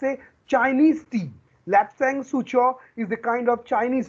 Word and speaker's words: Lapsang Souchong: Who will tell me the pronunciation? It's Lapsang Souchong.